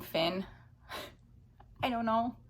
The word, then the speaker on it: Fionn: It's spelled Fionn. I've just been saying Finn.